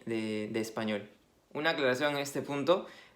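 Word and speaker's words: espagnol: Cuando juntamos una G y una N, el sonido va a ser como nuestra ñ.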